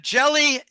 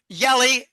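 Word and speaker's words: Jelle: I think the central banks are going to use the uh jelly yelli jl, but I think the Dutch pronounce it Yelli.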